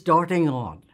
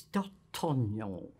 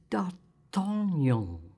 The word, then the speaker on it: D'Artagnan: It's D'Artagnan." So I said to Peggy, "Well, you don't pronounce it darting on." She said, "You don't pronounce it darting on?" "No, you pronounce it D'Artagnan."